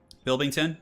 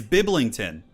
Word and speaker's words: Biblington: Bilbington? Am I saying his name wrong?